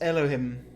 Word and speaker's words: Elohim: You are certain this man's name is not my hole. It's not. The greater purpose of which you are also part. It's Elohim.